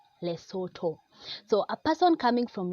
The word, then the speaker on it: Lesotho: and as I've said it's not less although it is less Soto so a person coming